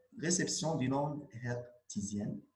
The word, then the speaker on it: hertzienne: مزيان بارتي 3 ريسبسيون دي نوند هرتزيان تقرا هاد الاتش حيت السيد راه الماني هاينريش هرتز هرتزيان بالفرنسي ما تقراش هاداش.